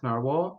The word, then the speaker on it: Nahvalur: pins um yes another question here uh why naral and this is the new name still pronounced naral um yes the name is um the is